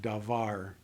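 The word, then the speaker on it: דָּבָר: First syllable is open, unaccented. The last syllable is closed and accented, because this word, unmarked for accent, means that it's going to be pronounced with the inflection at the end of the word.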